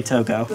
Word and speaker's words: Toggo: And Toga, or Toggo. Whatever. I'm gonna say Toggo.